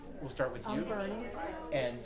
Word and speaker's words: Bernie: I'm Bernie. And spell it, please.